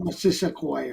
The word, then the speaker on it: Missisquoi: Missisquoi. That's how you pronounce it? Yeah, not Missisquoi or whatever.